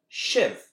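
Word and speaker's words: sibh: Shiv, or use, as they say in Scots.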